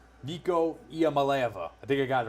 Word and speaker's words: Iamaleava: Let me see if I can finally get his name pronounced correctly. Nico Iamaleava.